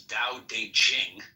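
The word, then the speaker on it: Tao Te Ching: book you're referring to Da Ching pronounced more or less da de Jing can be translated as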